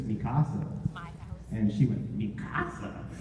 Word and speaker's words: Mikasa: How do you say that name? She was like, Mikasa? I'm like, so it's Mikasa, right?